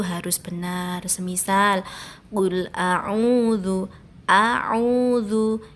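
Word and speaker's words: أعوذ: Semisal Qul a'udzu, a'udzu itu ada alif, ada ain. Jadi membacanya harus jelas. A dan ain harus dibedakan.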